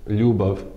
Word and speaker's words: ljubav: like I said before, it's one letter, it represents one sound, so treat it like that. And you can hear it in the word ljubav, meaning love.